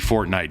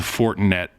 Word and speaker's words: Fortinet: buddy PGA Tour player he won the fortnite championship I know that's not how you say it did he really it's the Fortinet Championship second year second year